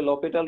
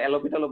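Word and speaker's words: L'Hôpital: এর একটা আরেকটা হচ্ছে লপিটাল রুল তোমরা পড়ছিলা না জি স্যার হসপিটাল ডিফারেন্সিয়াল ক্যালকুলে আছে ভাইয়াতে অনেকে উচ্চারণ এলোপিটালও বলো মানে লোপিটাল বলে এটাকে এটা ভাই শূন্য শূন্য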